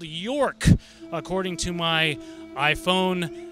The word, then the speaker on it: York: And that's how you pronounce it? York.